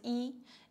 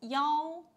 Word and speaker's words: 幺: Okay, 一 not 一一 you need to read 幺 Okay, 幺 and especially Chinese phone numbers start with 幺 Okay, 幺三九九零零零五六九八 or 幺三哦幺三八九三个零五六九八 Okay, clear guys.